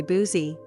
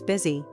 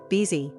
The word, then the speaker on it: busy: Many learners say boozy, busy, or buzzy, vz, because of spelling confusion or native language influence. But the correct pronunciation is busy, beezy. The U is actually pronounced like a short I sound, I.